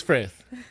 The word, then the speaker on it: Frith: It is Frith.